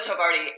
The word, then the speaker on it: Havarti: And I always want to run out of the kitchen and stop them and say, okay, number one is Havarti.